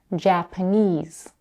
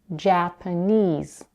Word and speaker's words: Japanese: In the word Japanese, the last syllable, knees, has the primary stress. The first syllable, ja, has the secondary stress, and the second syllable, p, is unstressed. Japanese, Japanese. Stressed and unstressed syllables differ